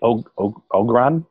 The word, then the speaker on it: Ogron: The Ogron?